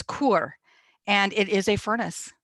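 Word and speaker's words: כור: And it's kur is the word. It's kaf, vav, resh. So it's kur, and it is a furnace.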